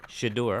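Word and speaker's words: Shedeur: Is that how we're pronouncing his name? Shador.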